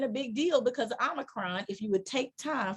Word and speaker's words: Omicron: but now I'm worried because they may cancel it because of Omarion dancing in the streets.